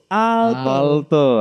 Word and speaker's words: Aalto: Terbang ke Finlandia ke Aalto, gimana sih cara bacanya? A-nya ada dua. Aalto.